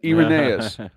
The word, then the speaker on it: Irenaeus: Number one, in AD 180, Irenaeus, I had to look up how to pronounce his name, Irenaeus, wrote against heresies to refute the errors of Gnosticism, which posed a great threat to the church at the time.